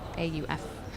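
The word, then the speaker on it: Shauf: I'm not sure how to pronounce his last name. It's Schauf. And I think he's fantastic, so trying to catch him as much as possible.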